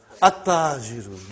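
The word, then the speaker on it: التاجر: Okay, you did not pronounce, you skipped it. Okay, at-tajiru. You see, your tongue has to touch, the upper part of your mouth inside.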